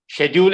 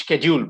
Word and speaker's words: schedule: different ways rather okay schedule and schedule both are correct okay both are correct yeah you can either pronounce it as schedule or schedule the british one is schedule and the american writing is the schedule okay schedule basically is